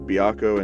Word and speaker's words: Byakko: Devil Survivor 2 anime, it's pronounced Byakko in there, but in the actual games, like Baihu. So it's whichever word you want to actually use, like, it doesn't matter.